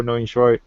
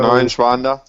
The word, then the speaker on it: Neunschwander: Like I've already mentioned Duncan, you've got Simon Zunterer, you've got Dario Neunschweidt. I can't pronounce it. Dario Neunschwander. That's it.